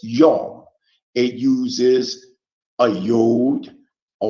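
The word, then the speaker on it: יום: for day in Hebrew it's pronounced as young it uses a yod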